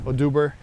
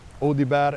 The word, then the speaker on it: Audibert: And my father's name is also Horacio Audibert, or Aduber, as most will say in how do you call it in English, Aduber. And recently when I was in France, so they pronounced that last name, and nobody really knows entirely for sure where it came from, but they pronounced it perfectly in France, Audibert, and I was like,